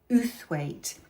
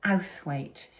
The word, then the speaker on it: Outhwaite: said to me that I'm pronouncing Uthwaite incorrectly, and I trust Sue's judgment as a Yorkshire lass, and she said it's Outhwaite. So Magdalena Outhwaite. I've got to remember to say Outhwaite, not Uthwaite.